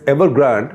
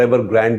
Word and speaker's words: Evergrande: this was this one that is ever Grand or ever Grande if you want to say so everr because it's spelled with an e in the end evergrand was the most